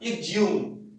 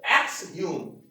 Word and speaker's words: exhume: अब थोड़ा सा और आगे चलते हैं, EXHUME, इसका ब्रिटिश में हम लोग प्रोनाउंसिएशन देखेंगे तो ब्रिटिश में डायरेक्ट आपको मिलेगा इग्ज्यूम, इग्ज्यूम। दूसरा इसका एक प्रोनाउंसिएशन हम लोग देखते हैं तो एक्सह्यूम, एक्सह्यूम यानी जमीन खोदकर बाहर निकालना, जमीन खोदकर बाहर निकालना।